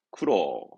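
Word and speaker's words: 苦労: 쿠로. 고생을 의미하지요. 고로라 아니라 이제 뭔가 고생을 의미했던 쿠로.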